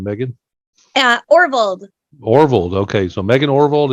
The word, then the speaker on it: Orvold: Orvold.